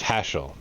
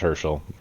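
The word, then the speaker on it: Haschel: a trent hello trent it's hashell okay it is not herschel sorry dude got your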